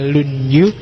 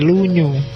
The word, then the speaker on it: Lunyu: Yang pertama judulnya Dasu, yang kedua Lunyu, bacanya misah ya, kalau disambung jadi Lunyu. Yo. Kalau Lunyu licin.